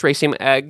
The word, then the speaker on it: raceme: So that's raceme.